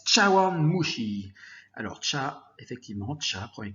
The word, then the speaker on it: 茶碗蒸し: ça pourrait nous faire ça se prononce châu mushi alors chars effectivement tchalla